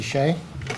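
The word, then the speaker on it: Hsu: This is and Shea. We're from Watchung. We're Last name is spelled H-S-U-H. I know it's kind of confusing.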